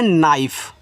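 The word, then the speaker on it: knife: तो यहां पे के आपका देखो साइलेंट होता है यहां। तो इसको पढ़ते हैं नाइफ।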